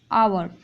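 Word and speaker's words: hour: तो आप देखेंगे कि यहाँ पे आवर, यहाँ पे उच्चारण हो रहा है ओ का, और इसमें यच साइलेंट है, तो ये आपका वॉवेल में आ जाएगा।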